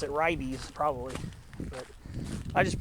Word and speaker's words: Ribes: And I see another species of ribes, which ribes, R-I-B-E-S, I think a lot of people pronounce it ribes, probably, but I just pronounce it ribes.